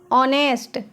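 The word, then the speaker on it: honest: ऑनेस्ट इसमें H silent रहेगा।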